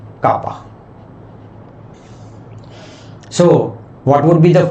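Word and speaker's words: κ: Dielectric constant is written with K and is pronounced as kappa.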